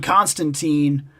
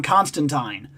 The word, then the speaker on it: Constantine: John Constantine. I heard it's pronounced Tine, not Teen. And I've heard that, too. I've heard that it's John Constantine.